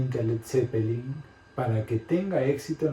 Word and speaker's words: Led Zeppelin: Por tanto, a la banda le ponen Led Zeppelin, le quitan la A a la palabra lead y queda como Led Zeppelin para que se pueda pronunciar igual en todos los países.